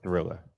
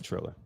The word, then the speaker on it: Triller: Or Thriller? Let's see. The Thriller? Oh, it's okay. It's Triller. TR. Trill, like Triller.